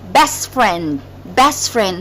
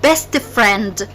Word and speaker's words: best friend: However, if there is a word comes after it, so we skip the T when we pronounce it, but we write it. So best friend, not best friend, it's best friend.